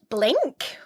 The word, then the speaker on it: BLINC: I use Blink, which is spelt with a C on the end, so BLINC.